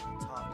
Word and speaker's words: Toph: Toph definitely rhymes with tough.